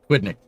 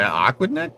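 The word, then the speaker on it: Aquidneck: I knew how to pronounce it, but I read that I'm like, but that's not right. But yeah, no quidnik. That's how you say that. Sorry. Aquidnick.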